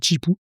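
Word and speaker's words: Zhipu: Et justement dans c'est Chipu ou Zipou, je sais pas trop comment ça se prononce. Bon, c'est Chipou.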